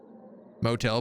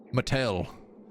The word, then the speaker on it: Mattel: Uh, the stage, I guess, motel, but the O is silent. Mattel, the Mattel office.